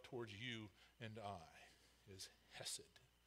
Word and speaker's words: hesed: in English, is hesed, H-E-S-E-D, you'll see, or sometimes you'll see it C-H-E-S-E-D, because it's actually, if you're going to pronounce it, it'd be hesed, a little guttural sound.